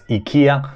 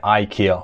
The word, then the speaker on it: IKEA: For those who are from Sweden, you might pronounce it as Ikea. So we're from UK and US, we say Ikea.